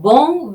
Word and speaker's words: bon: 몽도 마찬가지예요. 몽도 오 발음을 코로 내어주는 발음이죠. 네, 그래서 옹이 되는 거죠.